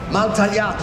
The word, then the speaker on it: Maltagliati: Maltagliati.